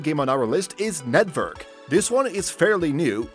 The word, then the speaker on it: NetVRk: It is pronounced Network, but if you look thoroughly, it is Net and VR with a K.